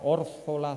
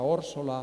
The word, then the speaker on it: Órzola: yaiza guatiza órzola zonzamas que de tanto ver los escritos como los acabo de pronunciar con z llegamos a pensar que esa es su verdadera naturaleza Pero no es así debajo de esa falsa grafía existe eso que los lingüistas llamamos un fenómeno de ultracorrección consistente en este caso en creer que la pronunciación canaria yaa guatia orsola sonsas no es sino efecto